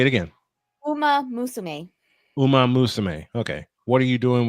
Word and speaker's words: Uma Musume: If you were a VTuber and not playing, how do you Uma pronounce that? Musume. It's basically one more time, honey. Say it again. Uma Musume. Uma Musume.